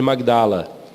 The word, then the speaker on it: Magdala: É que na nossa pronúncia a gente engole o G, né? Fica Madalena, né? Mas é Maria de Magdala.